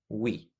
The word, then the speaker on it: we: dice we con y en este caso la e se pronuncia como una y wii ahora como dirían ustedes